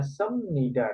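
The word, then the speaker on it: 습니다: ada yang baru belajar Kenapa tulisannya senida Jadinya semnida dibacanya ya karena dalam bahasa korea mungkin kalau di al-quran itu ada semacam tajwid ya yang apa namanya hukum bacaan Quran yang mana nun mati ketika ketemu huruf ba jadinya dibacanya ikqlab Jadi kalau di sini Bim bertemu dengan dibacanya miem ma ya Jadi yang semula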